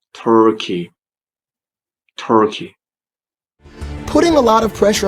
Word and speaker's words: Turkey: Because some people, when they want to talk about this country, they say Turkey or Turkey. That's wrong. Please say Turkey. Putting a lot of pressure on Turkey in particular.